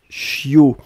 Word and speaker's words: chiot: ce qu'on appelle un chiot on écrit ça ch io t on ne prononce pas le thé finale je